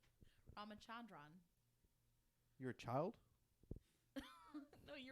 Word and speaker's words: Ramachandran: Ramachandran proposed that an accidental link.